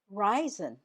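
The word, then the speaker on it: Reisen: Ryzen. Ryzen. That's the German word for to travel. And you spell it this way. R E I S E N. The stress is on the first syllable.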